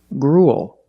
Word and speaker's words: gruel: Gruel. Again, we see the U-E-L making the long oo sound, followed by a dark L, just like in the words pool and cool.